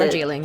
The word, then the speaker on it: Darjeeling: Is that how you pronounce it? Darjeeling, yeah.